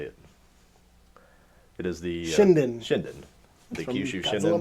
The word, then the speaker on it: Shinden: But my wife got me is it the Shinjin? I always forget how you say it. It is the Shinden.